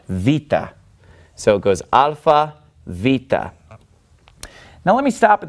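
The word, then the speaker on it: βήτα: Vita and of course if you're used to the Americanized pronunciation or the reconstructed pronunciation you you would know this as beta but it's actually pronounced Vita and it makes a sound like a V and Vita is basically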